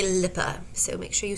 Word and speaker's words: LIPA: And yes, though we Americans would like to pronounce it LIPA, they say LIPA. So make sure you say LIPA.